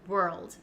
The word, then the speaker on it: world: back and forth um what you could do is break down the word and say were first and then to get the l sound we old maybe you can add an almost like an a sound like saying the word all all were old world world and try to